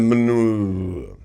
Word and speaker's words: Monongahela: The Ohio, the Allegheny, and the Monongahela. Did I say it right? I'm being told I said it right.